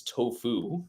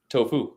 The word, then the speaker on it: tofu: Oh, emphasis- your enunciation is you put the accent on the other. I put the wrong emphasis on the wrong Yeah.